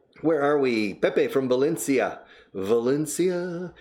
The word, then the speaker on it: Valencia: No, Valencia. And again, they always say Valencia con B y con C o con la C. And finally I say, do you speak Valencian? I said, yeah, perfectly. How do you say Valencian? Valencia. They say in their in Valencian, they say it correctly. And it's identical to English.